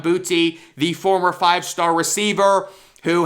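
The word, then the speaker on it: Boutte: diva receiver keyshawn booty i always thought it was keyshawn bootay but apparently the way they were pronouncing it it's keyshawn booty the former five-star receiver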